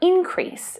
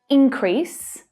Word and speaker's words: increase: The same stress pattern is used for increase as well. Increase and increase.